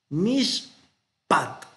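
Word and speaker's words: מִשְׁפָּט: Mish, este Sheva es mudo. Es un Sheva silente. Lo que significa que al ser mudo, cierra la sílaba, mish, y luego pat. Como esta P es el inicio de una sílaba, entonces va a ser explosiva. Por eso le ponemos un dagesh. Mish, pat.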